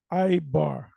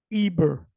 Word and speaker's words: Eber: No V in the Hebrew. The word the way you pronounce it is Ibar. Eber, like it says Eber, like right here.